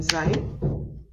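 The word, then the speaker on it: 在: The pronunciation is Zai, Zai, and it is taking a with a falling accent.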